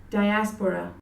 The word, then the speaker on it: diaspora: 이제 영어로는 이렇게 말합니다. 한번 들어보시죠. Diaspora.